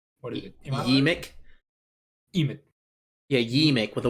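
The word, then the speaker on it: Yeemik: Yemek? Emmet. Yeah, Yemek with a Y. Oh my god, I've been saying it wrong the whole time. I mean, it's pronounced pretty much. Emic, Yes.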